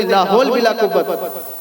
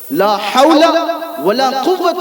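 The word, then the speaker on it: لا حول ولا قوة: بعض لوگ تو صحیح طرح سے پڑھنا بھی نہیں جانتے اور اس طرح سے بولتے لا حول بلا قوت، لا حول بلا قوت. یہ تو غلط تلفظ ہے. لا حول ولا قوت الا باللہ، اس کا معنی بھی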